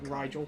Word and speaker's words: Rigel: hearts grow cold and numb to all I'd have gone with like Rigel, kindness. like Nigel, but with an R.